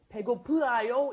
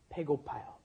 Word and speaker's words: 배고파요: 배고프아요 is almost impossible to pronounce, so it becomes 배고파요.